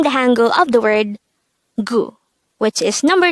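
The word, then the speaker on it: 구: Next, the Sino-Korean version of number 9 is gu. Again, it's gu. This is composed of just one syllable.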